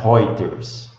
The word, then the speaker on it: Reuters: aqui ó e essa essa agência que fala hoyer's né Ela é uma imprensa aqui a pronúncia certa é essa esse eu aqui com